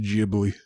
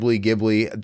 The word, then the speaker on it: Ghibli: Not a conventional Studio Ghibli movie in the sense of just sort of the history. What? Did you know you are a noob and it's actually pronounced Ghibli?